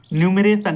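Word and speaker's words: enumeration: देखना structure union class न्यूमरेशन यहां पे ई साइलेंट है तो स्ट्रक्चर यूनियन क्लास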